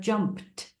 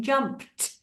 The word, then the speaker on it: jumped: you an example like the word jumped where on Earth does the tea come in jumped so yeah there's a